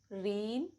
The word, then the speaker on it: reign: Rule number 1, जी is usually silent before n. For example, design, assign, reign, campaign, line, foreign, new, resign, benign.